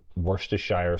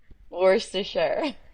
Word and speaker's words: Worcestershire: a oh, teaspoon of, I love how everyone pronounces Worcestershire sauce differently, coarse salt and olive oil. How do you say it? Worcestershire.